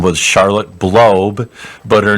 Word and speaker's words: Blob: And it was run by this lady whose name was Charlotte Blob, but her name is spelled B-L-O-B, like blob, which, of course, somebody with the last name Blob is going to be interested in space.